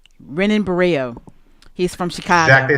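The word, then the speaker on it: Renan Barão: go to the on demand the name is pronounced renan buo renan buo he's from Chicago exactly it's spelled Ren buo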